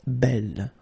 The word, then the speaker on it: belle: So it's actually quite interesting because these two forms, so the second masculine form and the feminine form, are phonetically the same. It's belle. Okay, so belle, belle.